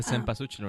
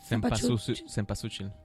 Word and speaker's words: cempasúchil: The cempasúchil, right? I think those are yeah. well. Yeah, the orange ones, yeah. Yeah, that's how you pronounce it. Cempasúchil.